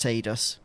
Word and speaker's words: Tidus: did we first find out that it was pronounced tidus is it pronounced in ff 10 2 is